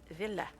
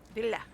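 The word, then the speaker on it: Ville: One of my favorite singers is from Finland and his name is Villa. Villa. It's spelled V I L L E.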